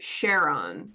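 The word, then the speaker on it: Charon: sure it's Greek and Greek ch is usually pronounced like a K. But the conc but the awesome they pronounce it Shaon.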